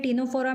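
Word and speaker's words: Ctenophora: सो पी से Porifera, चली Coelenterata, टीनोफोरा, क्योंकि इसमें टीनोफोरा में क्या होता है, ये हमारा सी साइलेंट होता है।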